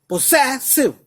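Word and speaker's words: possessive: पोसेसिव, सेसिव, सेसिव, सेसिव, सेसिव। तो 2 बार जो है एस पे स्ट्रेस पड़ रहा है। एक तो पो के बाद पड़ रहा है पोसे, से, डबल बार ऐसा आएगा।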